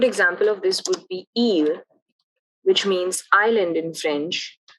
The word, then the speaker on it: île: For E and U, you want to give more emphasis to the pronunciation. A good example of this would be île, which means island in